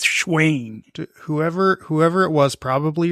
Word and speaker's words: Shayne: sh I believe it like Wayne right yeah like Wayne but it's schain whoever whoever it was